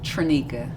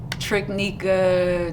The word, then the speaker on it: Traneka: forget kids don't forget so what is the correct pronunciation of your name trinica trinica yes trunica like say it with me what have you got uh triknika tramika tanika just yeah just chopped up how often does your